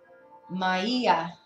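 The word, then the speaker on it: Maia: Swan and Dove and uh the goddesses is mayia which I wasn't too familiar with her but she's very powerful it's spelled m a i a I have no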